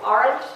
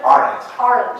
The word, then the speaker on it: Arendt: speak at the Arendt Center, which I just mispronounced for the last time. Roger has explained it as the Arendt Center? Arendt. Yeah. Like, isn't? Is that? No, Arendt. Arendt, yeah.